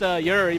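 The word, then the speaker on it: Juri: like curie and yuri it's supposed to be pronounced yuri but everyone says jerry anyways shut up johnny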